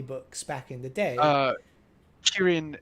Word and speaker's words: Kirin: Kirin is the Japanese pronunciation.